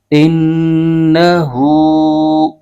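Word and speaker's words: إِنَّهُ: نون زبر ن، ان، ہ الٹا پیش ہو، انہو، سے آگے کاف پر زبر ہے اور آگے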